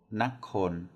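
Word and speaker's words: นคร: Nakon, nakon is how it's pronounced.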